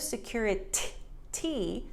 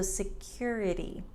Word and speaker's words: security: So instead of security, there's no air. So security.